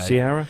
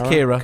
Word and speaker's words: Ciara: No, it's Kira. Kira. It's Kira, absolutely. We did at the production meeting, air quotes, we did get schooled on the proper pronunciation of absolutely, Winter because it is Storm an Kira. Irish name, actually, because so the way it's spelled is Ciara, and I kept calling it Cara, didn't I, when we were doing...